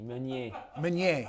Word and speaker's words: Meunier: Meunier. Meunier. It's all right. Yeah, I think I've been pronouncing it kind of right.